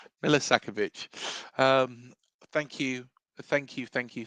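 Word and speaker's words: Milosavljević: It's Velco Millisakovich. Yeah, I'm just going Milos. Milisakovich.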